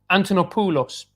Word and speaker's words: Antonopoulos: is the monopolist oh no no pulos because ulos that's in greek antonopoulos is great it is that's how you pronounce it isn't that right anton